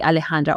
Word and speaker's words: Alejandra: n d r a Alejandra or you can just do Alexandra but just exchange the X for the for the J so that's that's like